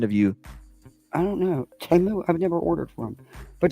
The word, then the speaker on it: Temu: I've never even ordered from Temu. People all pronounce it Temu. It's Temu.